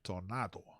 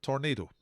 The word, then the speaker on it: Tornado: Proper Spanish pronunciation, Tornado. But Tornado, if you like.